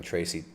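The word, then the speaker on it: Tracye: great way of spelling tracy it's spelled t-r-a-c-y-e tracy get it it's like tracy but spelled trace ye trace tracey lynn mcquarter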